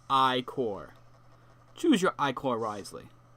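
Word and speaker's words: Ichor: with magical I core that's pronounced I core choose your I core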